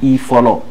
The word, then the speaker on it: Ifolo: I follow lui-même. Bon, I follow pour commencer, mon vrai nom c'est. Les I follow, ça s'écrit I follow.